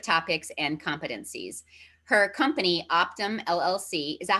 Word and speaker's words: OPTIM: Her company, OPTIM LLC, is that how you, OPTIM? Is that how you pronounce it?